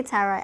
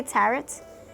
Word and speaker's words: tarot: How do you say tarot? I used to say tarot. I'm like, wait a minute. It's actually tarot, but hey, tomato, right?